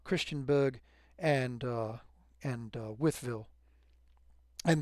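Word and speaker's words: Wytheville: and uh and uh Withville and that is how that is pronounced withville. It is not why the although I have to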